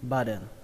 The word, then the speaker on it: button: Cách đọc tiếp theo đó là âm T ở đây các bạn có thể đọc thành âm D, âm D. Belly button, belly button.